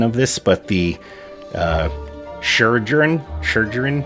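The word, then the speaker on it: Chirurgeon: this but the uh sure journ it's like surgeon but there's a Chri in front of it it's I can never say it I'm horrible with pronunciation ask anyone sure gin they are effectively the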